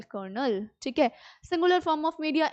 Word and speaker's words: Colonel: the contracted form which can be pronounced in the same way as konel so Colonel is also a rank in Indian army so c o l o n e l kernel okay singular form of